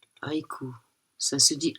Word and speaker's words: haïku: u S et je pense que ça se prononce Aiku. Ça se dit Aiku.